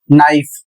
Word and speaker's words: knife: Spelling है के एन आई एफ ई और इसका सही उच्चारण होगा नाइफ।